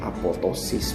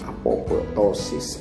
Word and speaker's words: apoptosis: dua Saya ada apoptosis dibacanya apoptosis buka ngapo ptosis apoptosis dan Neng necrosis Hai